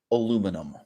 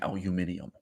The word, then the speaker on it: aluminum: sincere health scare about aluminum. The word aluminum has two official pronunciations. Some of you will be punching your desks in anger that I'm not saying aluminium.